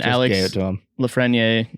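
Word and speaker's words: Alex Lafrenière: gate raiders on saturday nights yep i mean alex lafreniere i'm hoping i'm not butchered that's right that's correct i think so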